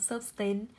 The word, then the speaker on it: sustain: Không rơi vào Ơ cho âm dầm tiết đầu, sustain. Âm đầu tiên của cô là Ơ, âm thứ hai là A. Nhận trọng âm vì trọng âm rơi vào nguyên âm đôi.